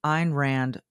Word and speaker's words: Ayn Rand: the CEO of the Ein Rand organization or the Iran Institute I should say which maybe some of you have read Ein Rand her name is spelled Ayn and Rand she wrote The Fountainhead